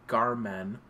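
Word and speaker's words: garm3n: you Google Garmin hud g a r m 3n and then hu just phonetically Garmen but with a three instead of the e it should come up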